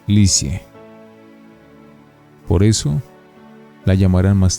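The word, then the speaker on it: Lisieux: Se pronuncia Licie.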